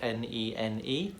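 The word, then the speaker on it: Nene: It does tell the story of the River Nen, which is spelled N-E-N-E, Nen, and it travels from Northamptonshire, a place called Badby, where it surfaces in Northamptonshire.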